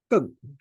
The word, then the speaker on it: Geng: Is GN is pronounced as Geng.